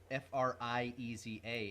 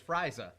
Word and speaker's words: Frieza: American version I mean it doesn't make sense to pronounce f-r-i-e-z-a as Frieza yeah like that that to me reads as friesa I mean how do